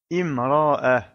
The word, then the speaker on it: امرأة: mot imra'a et donc on prononce bien la voyelle kasra car on ne peut pas commencer à lire ce mot par la lettre mim qui n'est pas associée à une voyelle.